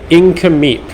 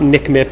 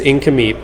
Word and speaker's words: Nk'Mip: that incompete sellers and that is how you say it you say inca meep even though it is spelled nk apostrophe m-i-p it's not nick mip it's incomey um it is um